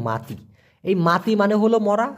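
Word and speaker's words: mati: মরা মাতি মানেও মরা এম এ টি আই উচ্চারণটা হবে মাতি এই মাতি মানে হলো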